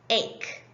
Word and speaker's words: ache: A-k, ache. The E is silent.